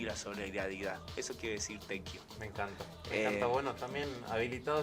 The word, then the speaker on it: Tequio: Es Tequio. Tequio, se escribe Tequio, T-E-Q-U-I-O.